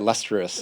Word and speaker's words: Liustrous: Cuz I was like lustrous. Yeah. Yeah. So lustrous is how you say it.